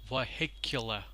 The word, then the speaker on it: vehicular: on the first syllable vehicular he kill LA but the stress you can see is on the second syllable right now certainly pronounced